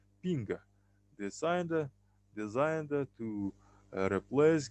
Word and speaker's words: PNG: PNG portable Network Graphics PNG pronounced ping designed designed to replace